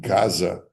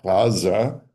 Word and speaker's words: Gaza: Gaza, and so Hebraists say Aza, Ashkenazi Hebraists say Aza, and the English people who listen to Arabs don't know how to say Gaza, so they call it Gaza with a hard G.